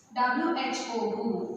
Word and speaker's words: who: We write it when we spell, but we won't pronounce it.